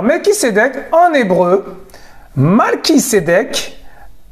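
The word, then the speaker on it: Malki-Tsédeq: qui cdec en hébreu malki cdec je dis bien mal qui cédait que vous avez bien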